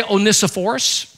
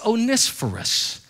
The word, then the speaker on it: Onesiphorus: it's even difficult to pronounce his name is onisforus oneis for us some people say oh nissaforce that's from the south but the greek pronunciation of it is onespherus and onisporus was a guy who refused to